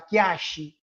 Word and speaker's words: Kiaishi: Um outro exemplo, Kiaishi. Diante de uma absorvência, de uma pronúncia rápida, você vai encontrar Kiashi.